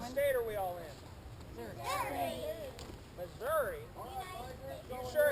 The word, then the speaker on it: Missouri: in Missouri you sure it's not Missour that's a big debate as to whether it's Missouri or Missouri if you ask the Native Americans that the state is named after they'd say Missour they pronounce their own name Missour but most missourians say Missouri now there is a